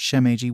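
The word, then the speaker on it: Shimeji: Her name took a little while to understand, but it worked more or less Shemeage, pronounced Shemeiji, which was a type of mushroom.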